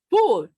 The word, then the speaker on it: fútbol: And so I got with a 3-syllable word. Now, what happens in Spanish? Oh, yeah, está fútbol. Oh, futbolista. ¿Eh? Futbolero. Fútbol.